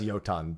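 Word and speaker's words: Jotun: Yeah, it's pronounced Yoton, but I just call them Jotons.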